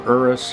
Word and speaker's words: Urus: an suv now with the lamborghini urus or erus however you want to pronounce it a lot of people